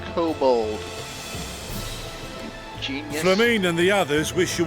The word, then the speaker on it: kobold: the maelstrom and the cobbles with a lunar primal operation so we thought we'd see you off before heading to the tower does that man literally just say cobbles it's pronounced kobold and the others wish